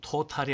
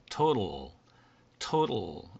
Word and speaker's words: total: 그 다음에 이 두 번째 낱말 이 경우는 토탈이 아니고 이 경우에 A라고 하는 글자는 발음을 하지 않습니다. 즉 묵음이라고 해서 이걸 토탈이라고 하지 않고 total 이렇게 발음이 됩니다.